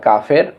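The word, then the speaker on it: كاف: আমরা পড়ি কাফ, এটা স্বাভাবিকভাবে উচ্চারণ হবে, ধাক্কা দিয়ে না। কাফ, এরপর কাফ।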